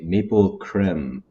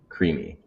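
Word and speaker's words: creemee: Um, something that's funny is some people read this and they'll say maple creme, maple creme, and it's Oh gosh, this like camera is messing me up. And it's it's spelled phonetically creamy.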